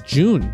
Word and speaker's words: Jun: waifu two June uh rhymes with tune and I played June